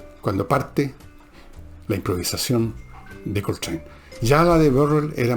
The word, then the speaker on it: Coltrane: Hay un juego de palabras, porque Coltrane, train, por tren, no se escribe trane, se escribe train, pero se pronuncia igual.